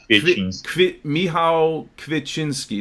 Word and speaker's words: Kwiecinski: it um and your last name I can't pronounce it help me help me here it's actually uh m m kinin Mi Kinski now I had a couple of Polish friends